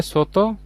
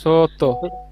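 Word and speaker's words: 外: এটার উচ্চারণটা কি হবে স্যার? এই যে সোতো, এই সোতো, ছোট, সোতো।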